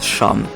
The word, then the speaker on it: Cham: Et oui, ça se prononce Sham.